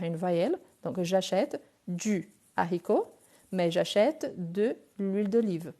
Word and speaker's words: haricot: J'achète du haricot. Haricot, c'est un H, mais c'est un H aspiré.